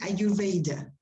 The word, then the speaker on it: Ayurveda: No, you write it like that, but in English you pronounce it Ayurveda.